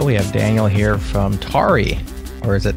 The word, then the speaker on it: Tauri: and said pronounce this I would probably pronounce it like Atari without the a tari but that's probably less